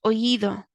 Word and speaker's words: oído: You can see here that there's an accent on the I, which is showing you that the strength is in that part of the word, oído. So the beginning part of the word, the first syllable, is where the strength is, oído.